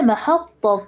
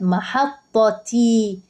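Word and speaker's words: محطة: القطار لا يا مس لو انا سكنت قلت محطه طه طه انا بعمل ايه التاء دي بنطقها هاء التاء اللي هي المفتوحه دي لا ده انا بنطقها هاء طب لو انا قلت محطي تي بنطقها تاء يعني انا لما اجي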